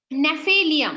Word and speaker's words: Gnaphalium: Gnaphalium, এটা স্পেলিংটা একটুখানি বলছি, GNA, জিটা silent, GNAPHALIUM, Gnaphalium. The next one, latex, Ficus nerium euphorbia, Ficus nerium euphorbia.